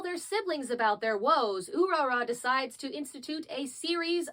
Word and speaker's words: Urara: So if it was Ulala, which would be an adapted thing, it would have been spelled in katakana, but in fact it is spelled in kanji, the kanji which means beautiful, which in this instance, B, is pronounced Urara.